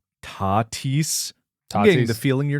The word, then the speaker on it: Tatis: Also, you mispronounced one of the biggest stars names in an episode calling him Fernando Tay Tus Jr. when it's pronounced Tatis the feeling you're not a baseball fan like you say.